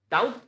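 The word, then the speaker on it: doubt: it's almond almond almond डाउट तो बिल्कुल सबका सही होता है बी साइलेंट होता है ये सबका सही है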